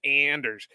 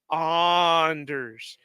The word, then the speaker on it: Anders: I hear him he's always calling him Anders no it's Anders Anders like I